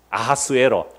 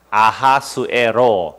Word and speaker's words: 아하수에로: 아하수에로. 아하수에로 무슨 발음이고요? 히브리식 발음이고 크세르크세스는 헬라식 발음이에요.